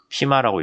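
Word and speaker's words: FMEA: 좀 제대로 정리된 얘기로 처음 나온게 fm이에요 피마라고 읽기도 하는데 고장 모드 효과 분석이라고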